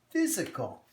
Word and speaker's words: physical: And now this Y is doing something very tricky. This time the Y is actually has a short I sound. It says physical.